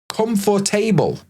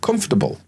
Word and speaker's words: comfortable: Or let's look at comfortable. No, comfortable.